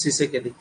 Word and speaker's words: Tshisekedi: La Felix plus Tshisekedi tita pronounce hobo nahi. Felix Tshisekedi.